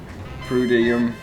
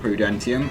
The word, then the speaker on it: Prudentium: I then made some prudium essence. I've just realized it's called Prudentium, and I've been pronouncing it wrong this whole time, but I'm not going back and re-recording that.